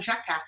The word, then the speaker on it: jacá: Aquilo é um jacá. E o jacá, ele teria acento, porque é oxítona terminada em A.